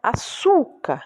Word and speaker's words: açúcar: Açúcar, né? O su, que é a sílaba tônica. Então, você tem aí a penúltima.